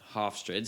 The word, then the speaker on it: Hofstra: no name team Hofstra Hofstra it's spelled how it sounds h-o-f-s-t-r-a by the way Hofstra are we